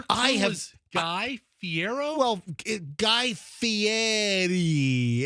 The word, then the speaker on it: Guy Fieri: Well, Guy Fieri. It's, Fieri, Fiero. Guy, and you got to say Guy's name the right way. It's not Guy Fiero. You got to go Guy Fieri.